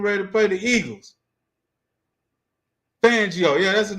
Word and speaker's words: Fangio: Fangio. Yeah, that's his name. Fangio. That's how you pronounce that He couldn't beat Fangio when he was with the Broncos.